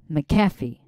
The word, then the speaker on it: McAfee: McAfee is it McAfee oh so the accent is on the F McAfee is it McAfee yes